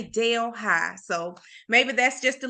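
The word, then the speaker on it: Delhi: Vicksburg Mississippi in Louisiana um and it's not pronounced as uhh what is it from India it's New Deli but it spelled the exact same way D LH I but we say Dale High so maybe that's just a little country in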